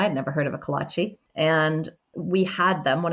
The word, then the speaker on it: Kolache: spell it? Kolache, it's Kolache.